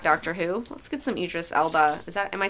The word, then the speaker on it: Idris Elba: Let's get some Idris Elba.